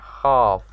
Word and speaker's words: half: thinking there half way it's half like the l is silent what am i thinking